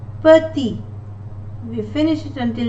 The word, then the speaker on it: petit: Petit, we finish it until letter T, I, and the letter T is not pronounced. Petit.